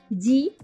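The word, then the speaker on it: じ: Kamu tambahkan tenten maka berubah menjadi za, ji. Bukan zi ya tapi ji ya. Perhatikan. Za, ji, zu, ze, zo.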